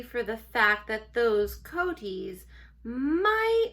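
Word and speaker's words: coatis: Reading from the letter, pronounced coaties.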